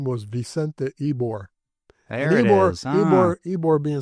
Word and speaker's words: Ybor: The reason it's called Ybor City, the guy who owned the cigar factory, his name was Vicente Ybor. There it is. Ybor being spelled Y-B-O-R, but a Y in Spanish is pronounced E.